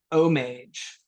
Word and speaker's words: homage: What is homage 2 down?